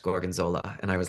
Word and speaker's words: Gorgonzola: And I sat beside her and I ordered Gorgonzula. And then she was like, "It's pronounced Gorgonzola."